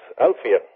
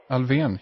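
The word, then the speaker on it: Alfvén: accent n uh and sigford said well that's alvan alvan yeah yeah and well then I have I've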